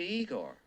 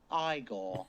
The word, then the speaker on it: Igor: us Frankenstein Frankenstein you must be Igor now it's pronounced Igor let's go allow me